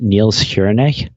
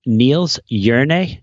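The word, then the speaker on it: Niels Jerne: niels hironay oh yes am i pronouncing that improperly i hope and uh you're gonna correct me dixon journey not me do you know the name what's the name um niels yernay j-e-r-n-e and he had this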